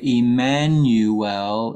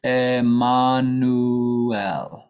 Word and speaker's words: Emmanuel: So in English we say Emmanuel. In Spanish it's Emmanuel.